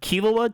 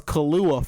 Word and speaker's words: Killua: Killua to me was Kahlua for a long time.